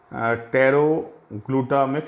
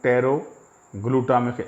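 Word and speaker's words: pteroylglutamic: और इसको बोलते हैं पैरों ग्लूटामिक एसिड पैरों को पीछे गए यहां पटेरो नहीं बोलेंगे क्योंकि यह साइलेंट पर पैरों ग्लूटामिक acid it's need for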